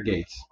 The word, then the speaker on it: Geats: show it's the desired driver from Kamen Rider Gates not not the skates this one this guy